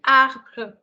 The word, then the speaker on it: arbre: R is a pronunciation which actually comes slightly from here. Okay. So in French, in English, you pronounce it as R, which comes from the mouth. But here in French, it comes from the throat. It's like scratching your throat.